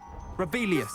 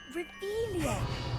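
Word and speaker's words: Revelio: You're Rebellious. saying it wrong. Ugh, Revelia.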